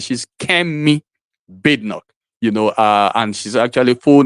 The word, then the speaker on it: Kemi: She's not Kemi. She's Kemi, and that's the way they pronounce it. She's Kemi Badenoch.